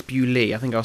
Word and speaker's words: Bewlay: in the demo um obviously it's bewley I think I'll say